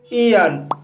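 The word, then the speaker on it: aeon: Guys, AE का उच्चारण ई होता है। जैसे ईयन, ईयन शब्द में AE का उच्चारण ई हुआ है, इसलिए इसे ईयन पढ़ा जाता है।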